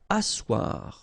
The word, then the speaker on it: asseoir: Asseoir. Okay, remember you've got this beautiful but then phonetically doesn't exist. Asseoir. Remember double S here, it's really strong s, really strong S.